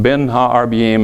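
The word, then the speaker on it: בין הערביים: It literally means, it's pronounced Ben Ha-Arbiyim in Hebrew, literally means between the evenings.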